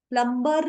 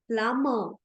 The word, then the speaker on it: plumber: plumber. plumber नहीं होता है, it's plumber. The next word, when we are giving or receiving compliments, we will not say beautiful.